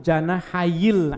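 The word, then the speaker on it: جناحي: Ahadu janahayil ilmi bacanya ya. Asalnya sebetulnya janahaini. Nah, ini asalnya. Dua sayap. Janah itu artinya sayap. Kalau ada janahaini, janahani, dua sayap. Tapi karena digabung dengan kalimat berikutnya, nunnya hilang.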